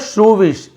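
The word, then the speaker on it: shrewish: मालती वॉज यानी थी, एक और नया वर्ड मिल रहा है आपको, मालती वॉज श्रूविश, इसे आप और कुछ नहीं पढ़ेंगे, श्रूविश आपको बता रहा हूं, आप लिख लेंगे श्रूविश।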